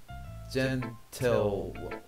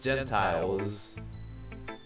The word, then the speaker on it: Gentile: Epiphany, the manifestation of Christ to the gentle. Man, I can't even say words. I'm pretty sure it says Gentiles.